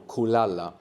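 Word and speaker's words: kulala: And if we get and we have the accent on the penultimate syllable. No, the second last syllable. Kalala.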